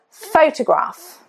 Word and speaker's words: photograph: So, a very good example of a mistake you would often make is photograph. Photograph. Stress is on the first syllable.